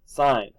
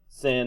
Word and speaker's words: sine: help me please mogen you don't actually pronounce announce the abbreviation it stands for something M so limit cosine sign not limb sin and cost or got it all right